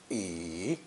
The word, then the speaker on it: 已: point and does not appear this character is pronounced third tone e and means to stop end or already originally